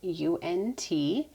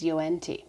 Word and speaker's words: UNT: base the peel base that i use is unt and that is how it's pronounced because i asked the company finally for